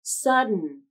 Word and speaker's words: sudden: d plus n combination instead of pronouncing the full final syllable like din in the word sudden you can use an unreleased d omit the vowel and